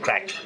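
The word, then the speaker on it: craic: Good spirits, good fun, good crack. And it's spelled C-R-A-I-C, just in case you think there might be some confusion there.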